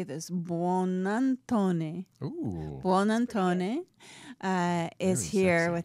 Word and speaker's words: Buonantony: and I know how to say this, Buonantony.